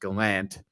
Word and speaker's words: Gallant: job gerard gallant um who actually prefers his name to be pronounced gallant um which is hilarious it